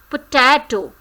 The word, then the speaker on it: potato: Potato. What is this word? Potato. Now, stressed is on ta. Potato. So, ta is stressed syllable here.